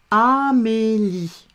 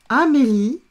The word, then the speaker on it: Amélie: A, m et mé, l, i, li, Amélie. Le prénom est E muet, on ne le prononce pas, on l'écrit.